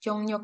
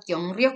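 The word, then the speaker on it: 경력: Kyongnyok itu artinya dibacanya bukan kyongryok ya teman-teman, bukan kyongryok tapi kyongnyok.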